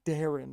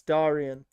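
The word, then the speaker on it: Daryan: to Google Translate because I remember it wasn't Darren, but I don't remember how exactly to pronounce his ne name. I think it's Darien. I think. But just to make sure I'm not that stupid. Yeah, it's Darian. It's Darian. There we go. Yes, Darian. See, Gator's gone missing.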